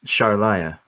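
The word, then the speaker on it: Sharliah: no uh sorry um my name is is charlaya uh we better um very trip down here that's spelled with a c or an s that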